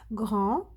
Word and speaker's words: grand: Dire, devenir, grand, on ne prononce pas le T.